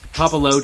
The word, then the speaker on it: Puopolo: Yeah, it's Puopolo. Puopolo. So, yeah, no, not Pope or Poop or anything like that.